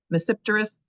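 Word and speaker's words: Tmesipteris: so cotum and misteris the t is silent on that one too misteris and cotum don't see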